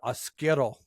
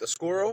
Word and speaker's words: oscuro: Marty and I that we were mispronouncing the word oscuro. So I was pronouncing, I think, Oscuro or something like that. So I wasn't giving it the Spanish or the Mexican pronunciation. I was Right. I was making it too white.